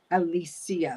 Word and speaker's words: Alicia: So, they pronounce Alicia. Alisia. Like the Spanish version of it.